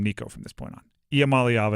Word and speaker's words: Iamaleava: Iamaleava is how you say it.